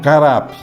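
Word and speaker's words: caught up: A palavra nós pronunciamos carap, C-A-U-G-H-T, um espacinho U-P, carap, que significa apanhados, apanhar, fisgados, fisgar, aprisionados, quer dizer, prender, e não arrebatamento.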